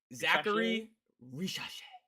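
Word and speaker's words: Zaccharie Risacher: How do you pronounce his name? Zachary Risacher.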